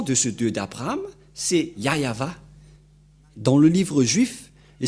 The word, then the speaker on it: Yahvah: juif il y a ceux qui prononcent Jéhovah ce n'est pas le nom de ce Dieu ni y avit mais le nom que AB et Moché l'ont appelé c'est très clair c'est yayava voilà donc Abraham le